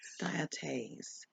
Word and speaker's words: dioptase: Dioptase.